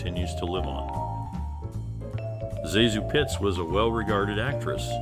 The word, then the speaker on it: ZaSu: world of Cinema zesu Pitts whose first name is pronounced ASU was an actress with